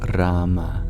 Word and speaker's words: Rama: Is it Rama, though? Technically, it's Rama. But whether you call it Rama or Ram, it's the sentiment we carry in our heart that matters.